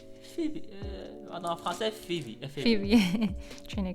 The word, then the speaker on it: Phoebe: Phobie, je sais pas comment prononcer. Phoebe.